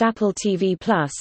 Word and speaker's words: Apple TV+: Apple TV Plus, pronounced Apple TV Plus, is an upcoming American over-the-top ad-free subscription video on-demand web television service announced by Apple Inc.